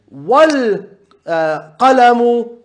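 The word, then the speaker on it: والقلم: Can you see me saying wal, going straight to the lam and not pronouncing the hamza?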